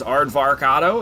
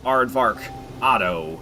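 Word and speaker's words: Arvarcado: AO that's arvar AO it's a blend of arvar and avocado I know it's really hard looking to pronounce but if you can say arvar and you can say a then you can pronounce arvar AO so hopefully that helps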